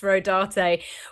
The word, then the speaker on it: Rodarte: The only reason why I know it's pronounced Rodarte was because I I looked up the designers.